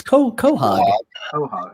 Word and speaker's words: quahog: seen family guy quahog it's co quahog okay how dare you say you could claim to be from new england and you can't pronounce quahog i'm from the worst